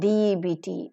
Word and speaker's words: debt: comb lmb lamb and debt debt B silent here very nice look at